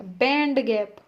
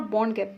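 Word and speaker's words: band gap: हाँ, बॉन्ड गैप कहाँ से आ गया, बैंड गैप। This is नॉट बॉन्ड गैप, बैंड गैप।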